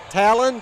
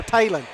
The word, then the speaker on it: Talon: Talon Johnson. I always want to call her Tailon.